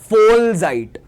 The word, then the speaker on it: Vollzeit: weiter arbeiten के कुछ common expressions, Vollzeit, Vollzeit नहीं, ये जो V है, V is V and it is pronounced as F, ठीक है? Vollzeit means full time.